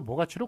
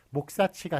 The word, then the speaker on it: 모가치: 자, 또 발음 형태도 모가치로 굳어져 있는 거기 때문에 관용에 따라 목사치가 아니라 모가치로 그렇게 적어주는 것을 볼 수가 있습니다.